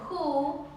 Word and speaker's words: who: Bueno, un pequeño dato muy interesante es que hay palabras que comienzan con W, pero esa W de hecho es muda y van a comenzar con este sonido de H pronunciada, es decir, la que no es silenciosa.